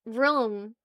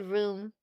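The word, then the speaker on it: rheum: The medical term is room. It's spelled R H EU M. Official term for the clear crusty mucus that builds up overnight. It's called room.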